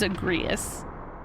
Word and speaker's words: Agrias: That is how you are supposed to pronounce her name. It is Agrias. And so her name is the same as a butterfly.